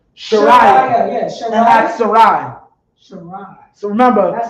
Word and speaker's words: Sarai: Sarai. So remember, That's how you pronounce it.